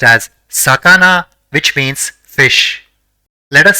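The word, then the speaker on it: さかな: The first character in the word is sa, the second is ka, and the third is na. So, it will be pronounced as sakana, which means fish.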